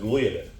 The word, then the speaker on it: gliadin: is a glutenin and a gliadin or some people pronounce it gadin but those two proteins